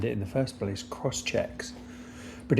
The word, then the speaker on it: Crosschx: Cross checks. But it's spelt CROSSCHX.